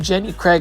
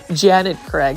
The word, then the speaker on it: Janet Craig: I kept on saying Jenny Craig, like Jenny Craig lose weight, but it's actually Janet Craig.